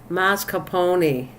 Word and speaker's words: mascarpone: Oh, she's trying to pronounce mascarpone.